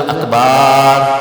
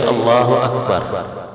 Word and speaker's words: اکبر: فاسد کر دے گا۔ اسی طرح اکبر کو بعض لوگ جو اکبار اللہ اکبار، تو یہ بھی چیز نماز کو فاسد کرے گی۔ تو ان دونوں چیزوں کا، ان دونوں لفظوں کا تلفظ احتیاط کے ساتھ درست ہونا چاہیے۔ اللہ اکبر، اللہ اکبر، نہ حمزہ کو کھینچنا ہے، نہ اکبر کے با کے بعد جو ہے وہ الف کا اضافہ کر کے اس کو کھینچ لینا